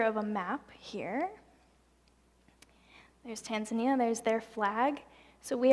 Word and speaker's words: Tanzania: So trip number 2 was to Tanzania, or Tanzania, as they pronounce it.